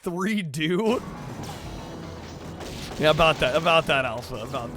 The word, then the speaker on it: 3DO: It's pronounced 3-do.